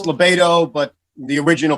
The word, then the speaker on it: LaBaido: am i pronouncing that right libido lobotomy it's libato but the original pronunciation when we came from italy was so you're half right we'll give you that